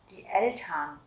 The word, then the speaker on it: die Eltern: Chữ ERN các bạn sẽ đọc là Ern. Ern. Die Eltern. Die Eltern.